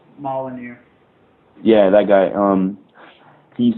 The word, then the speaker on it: Molyneux: Molinux? Molyneux.